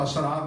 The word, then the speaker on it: اسرار: اس کی جمع اسرار۔ ذرا پھر تلفظ پہ غور کیجئے، سر اسرار، یعنی سین رے سر، ایک الف پہلے لگاؤ، ایک الف اور رے بعد میں لگاؤ، یعنی دو الف ایک رے بڑھاؤ گے تو اسرار بن جائیں گے۔ ورنہ